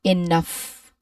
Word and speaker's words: enough: At the very end of this word, the letters G and H, which is also a consonant cluster, it magically transforms into the F sound. We don't pronounce the G or the H separately here. The GH combination here makes the exact same sound as the F in fish or the PH in phone.